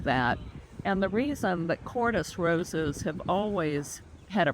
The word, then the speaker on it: Kordes: Bliss Parfuma is one of the Parfuma series of roses developed by one of my personal favorite rose breeders called Wilhelm Cordes. That's spelled Kordes.